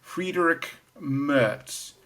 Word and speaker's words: Friedrich Merz: My pronunciation right because I got it wrong on Monday's video. The chap's called Friedrich Merz, and he will be the new chancellor, and he's called for more support for Ukraine.